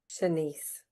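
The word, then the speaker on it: Shanse: Senise.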